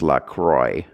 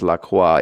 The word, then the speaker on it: LaCroix: yeah demands that people pronounce it the correct way which is the French way unfortunately apparently even the people who own it say that it's supposed to be pronounced LaCroix and I'm like no